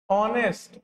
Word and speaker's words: honest: अच्छा, अगर लिखा हुआ रहेगा ऑनेस्ट, HONEST, प्रोनाउंसिएशन कैसे बोल रहे हैं इसको? ऑनेस्ट। इसका मतलब पहला अक्षर क्या आया? हाँ, इसके आगे एन लगेगा, लेकिन इसका पहला लेटर क्या है? एच।